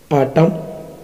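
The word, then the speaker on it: autumn: एम एन, एम एन में N silent रहता है, जैसे कॉलम, आटम, डैम।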